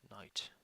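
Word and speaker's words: knight: gonna go with night night present the K is not spelled or pronounced special night at least that's where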